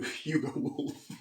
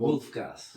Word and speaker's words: Wulf Gas: I'm um I'm here with Hu Hugo Wolf. Sorry. I'm here with Now, you have to give me the minus the correct pronunciation. I want Wolf Gas. Wolf Gas.